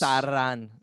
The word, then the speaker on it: Sauron: way of pronouncing things, sort of over pronouncing them a little bit. Like when they said Yes. Sauron, Yeah.